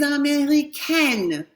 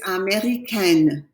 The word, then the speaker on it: américaine: to be je suis américaine, right? Same word, but now you have an E on the end, so you have to pronounce the N. Here it's américain. Here it's américaine. Américain, américaine. Excellent.